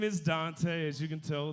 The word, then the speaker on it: Duante: Yeah, my name is Duante. As you can tell, it's spelled all fucked up. Yeah, it's D-U-A-N-T-E. So I get everything from Duante to Duante. I've even got Dwayne before, like the T silent shit.